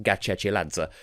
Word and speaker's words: Gachechiladze: wanted to confirm that her name is indeed pronounced Gatchell Adso because that was a big deal for me